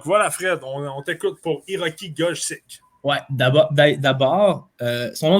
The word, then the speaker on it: Gojsi: mais pour votre info c'est g o j s i et ça se prononce Go fait que j'ai vraiment